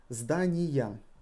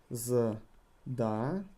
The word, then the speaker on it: здания: Здания. Здания. And again the emphasis falls on a.